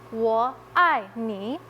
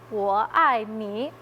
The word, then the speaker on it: 我爱你: you in Chinese is 我爱你. So when you say 520, it sounds incredibly similar to I love you. 520, 我爱你.